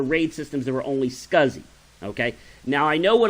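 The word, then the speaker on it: SCSI: of peripherals to computers it's pronounced scuzzy sk u ZZ wise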